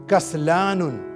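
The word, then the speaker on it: كسلان: Masculine के लिए कसलानुन. कसलानुन, छोटा काफ, कसलानुन. काफ के ऊपर फतहा, सीन के ऊपर सुकून, कस. लाम के ऊपर फतहा, उसके बाद लॉन्ग वावेल अलिफ, कसला. नून के ऊपर तनवीन, कसलानुन.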